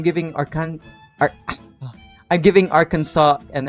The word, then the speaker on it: Arkansas: you pronounce this state Arkansas? What's the point of the S if you're not even going to say it at all? That really So I'm giving Arkan Ar- I'm giving Arkansas an F.